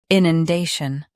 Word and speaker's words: inundation: i nun day shun inundation Stress day. Keep nun soft, then shun quick.